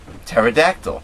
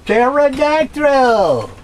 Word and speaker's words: pterodactyl: the p is silent pterodactyl pterodactyl the p is silent you know and then